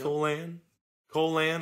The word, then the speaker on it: Colan: Colan, I think is how you pronounce it more, but it just looks like Colon when I read it.